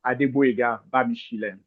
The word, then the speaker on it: Adeboyega Bamisile: Um like you have rightly pronounced well my name is Adua Bishen.